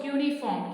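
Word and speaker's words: cuneiform: known as uniforms cryptic remember how to pronounce also cuny form uniform is the script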